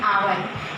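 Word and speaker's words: hour: अगर हम बात करें आवर की तो आप इसको प्रोनाउंसिएट करते हैं हावर, जो कि बिल्कुल ही रॉन्ग है। इसका प्रोनाउंसिएशन होता है आवर।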